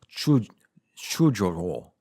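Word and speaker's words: chujowo: And then we have chujovo, because the W is pronounced like a V.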